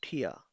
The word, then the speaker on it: Tier: Pronounce with me ठिया।